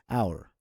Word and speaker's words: hour: Now, there are a few words we pronounce in the word as if there is no H at all.